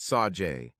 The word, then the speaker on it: Sage: But it is pronounced Sajay.